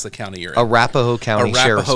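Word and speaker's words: Arapahoe: So Matt, help us understand, you work for, how do you pronounce the county you're in? Arapaho County Sheriff's Office. Arapaho County.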